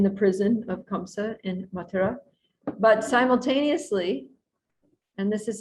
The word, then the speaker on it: Mathura: And usually we hear that Krishna was born in Mathura, or Mathura is the more correct pronunciation.